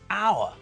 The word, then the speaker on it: hour: vowel not a consonant the word our sounds like it starts with an O not an H so we say an